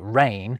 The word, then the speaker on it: reign: Benign or malign, the French dained to assign silent G's to words like rain.